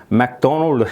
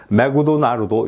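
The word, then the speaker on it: McDonald's: 매도 좀 과장되서 말씀드리면 맥도널드 해야 될 거를 갖다가 매그도나르도 이렇게 가르친 거라고 이렇게 볼 수가 있는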